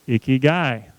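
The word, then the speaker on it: ikigai: would leave me alone i-k-i-g-a-i is pronounced icky guy the Japanese believe everyone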